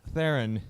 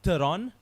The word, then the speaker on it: Theron: You obviously don't agree with it, but we say Theron. I still say Rusty Theron, like it is. A silent H. She's obviously not making it made it the silent H anymore, so she's gone the Theron route.